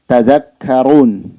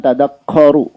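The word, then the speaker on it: تذكرون: Misalnya pada kalimat tadzakkarun. Orang baca tadakko. Nah, itu keliru. Tadzakkaru. bukan tadakkaru.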